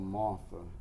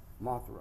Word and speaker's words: Mothra: I believe he was called Martha in Godzilla. But anyway, I think Martha was the big, was Martha the big butterfly? Yeah, Mothra.